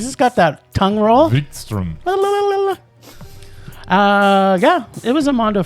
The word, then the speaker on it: Wikström: Wikström. Holy cow, he's just got that tongue roll. Wikström.